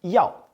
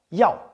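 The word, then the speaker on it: 要: It's pronounced yao. Yao.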